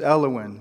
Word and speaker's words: Elowen: Her name is Elowen, which rhymes with hellion.